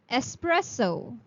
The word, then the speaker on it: espresso: There's no X in the sound of first S, so you would pronounce it as espresso.